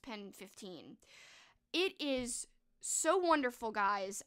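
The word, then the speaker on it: PEN15: 2020 and that is pen 15 or pen one five but i think it's pronounced pen 15.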